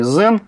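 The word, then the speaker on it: Xen: Ну, собственно, уж коль мы заговорили о Citrix и Zen, правильно произносить все-таки Zen.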